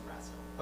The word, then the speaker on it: Rasso: So it's Rasso. Okay. R-A-S-O. okay. That's how you pronounce it.